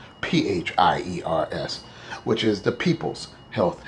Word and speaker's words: PHIERS: And FIRES, spelled PH. The PH makes the F sound like in Big Pharma. PHIERS, which is the People's Health Insurance Endowment and Referral Service.